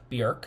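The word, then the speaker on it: Björk: It's actually pronounced Bork.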